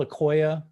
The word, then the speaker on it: Akoya: are these boxes called they're called a koia that's how you pronounce it crosslink and akoya servlink